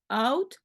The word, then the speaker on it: oud: Attention à la prononciation de oud, ou, hein.